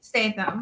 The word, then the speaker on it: Statham: Oh, Myra Statham. Statham, yeah. Like Jason Statham.